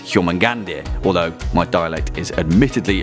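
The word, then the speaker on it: Jörmungandr: Yormangandia video, Dracos514 says, I'm sure I'm not the only one to correct this, but it's pronounced Yormungand.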